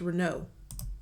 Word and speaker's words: Renault: She said Renault too. That's not how you say it, ma'am. The Europeans will correct you. It's Renault.